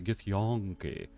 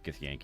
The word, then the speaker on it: Githyanki: So I was always like, it's a Githyanki. And then Ed was like, dude, it's Githyanki, you idiot. Just say it right.